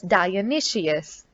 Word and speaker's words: Dionysius: their king dionysius so the pronunciation of this word is dionysius was an evil-minded ruler